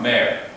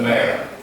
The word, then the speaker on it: mayor: There was also news that the city's former mayor, as if it was M-A-I-R, mayor. Pronunciation. It's almost like a horse, a mare, M-A-R-E too, like a mare, the mayor.